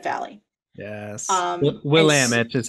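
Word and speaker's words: Willamette: wine drinkers and our favorite wine region is Willet Valley yes Willam it is how we pronounce it here in Oregon but Willam Willam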